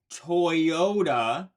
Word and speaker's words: Toyota: And that also brings me to often when we have two vowels next to each other, we may hear a y sound. Like in the brand name Toyota, that is spelled Toyota. That doesn't have the hidden Y. What you're hearing, Toyota, is the two vowels next to each other, kind of making it sound like there is a Y sound in there, but there isn't.